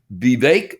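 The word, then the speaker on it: Vivek: read you something that its name is be bake that's what they just said it rhymes with cake ramaswamy I'm going to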